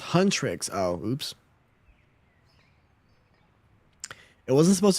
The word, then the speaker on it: Huntrix: It's pronounced Huntrix.